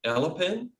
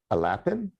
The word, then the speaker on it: Alapin: By the way, you pronounce the name again that you just did? Alpin. Alpin? So we would say Alapin in... Alapin? Yeah, and we're getting it wrong.